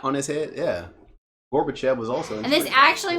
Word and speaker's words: Gorbachev: Reagan and Reagan and Gorbachev gorf there's no F even though it's how you say it there's no F you could see how that would throw somebody off Gorbachev okay Gorbachev Gorbachev yeah